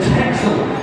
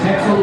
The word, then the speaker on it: Texel: Sheep who actually comes from a little island off of Holland called Texel, which is how the Dutch pronounce that. It's Texel. We call him Texel, and he is unique.